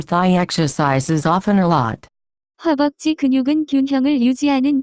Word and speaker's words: 허벅지: The pronunciation of this word is closer to 허벅지.